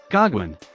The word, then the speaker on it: Goguen: Just so you guys know, if you look up the exact pronunciation of the word you guys call Gauguin, it says Gauguin.